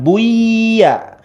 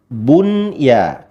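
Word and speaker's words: بنيان: Bunyanun ya, bukan buya ya, tapi bunya.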